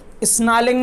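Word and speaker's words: snarling: He should be स्नालिंग, स्नालिंग में are silent है तो उसे, स्नार्लिंग का मतलब है घूमना, तो उसे घूमना चाहिए।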